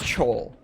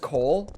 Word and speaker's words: Chole: Officially speaking, it's Chole. You do pronounce the CH, but a lot of people think it's just Cole, which is fine because my first name is just Cole. So it works either way.